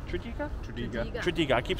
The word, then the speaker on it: Tredegar: Ladies and gentlemen, I think that's going to be the end of this amazing little adventure to Tredegar.